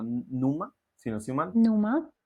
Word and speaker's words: Numa: Numa. Numa se pronuncia así.